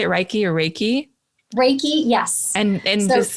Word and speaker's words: Reiki: Reiki or Reiki?